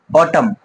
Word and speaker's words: autumn: দেখো এখানে AUTUMN অটাম, কি পড়ি আমরা এটা? অটাম পড়ি, অর্থাৎ এনটা কিন্তু সাইলেন্টই থেকে যায়।